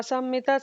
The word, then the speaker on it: sammita: Vasur vasumana satya samatma sammita samaha. Sammita samaha. Not double S.